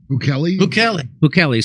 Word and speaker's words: Bukele: Bukele. So extraordinary El Salvador. Or if you're Alex Jones, you can pronounce it Bukele.